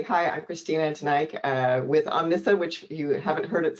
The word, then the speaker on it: Omnissa: please absolutely hi I'm Christina uh with Omnissa which you haven't heard it said before that's